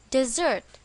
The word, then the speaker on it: desert: the correct answer is Desert to Desert you is the last thing I do where is the stress in this word on the second syllable desert to Desert you